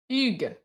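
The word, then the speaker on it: Hugues: who what o well the French you don't pronounce an age at the start of the word right so when his name is spelled hugus h did you mean to say Ugo no because there's no o this is not Hugo it's hug ug so like of the the four six letters in his first name you're pronouncing to yes o uh welcome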